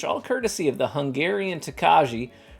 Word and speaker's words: Tokaji: courtesy of the Hungarian Tokaji, pronounced Tokai. Have I been saying it wrong this whole time? It's literally pronounced Tokai.